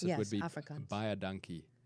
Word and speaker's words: Baie dankie: Baie dankie. Buy a donkey.